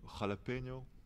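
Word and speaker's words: jalapeño: joué Veuf, il aurait pu jouer Jalapeno ou Jalapeno, comme ça se prononce.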